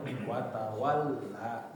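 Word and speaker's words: وَتَوَلَّى: Jadi kalau misal di atas huruf lam oh berarti lamnya aja yang ditekan jangan semuanya ditekan gitu ya.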